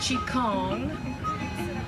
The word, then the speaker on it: qigong: term is vital energy qigong sometimes pronounced chi kong is the science of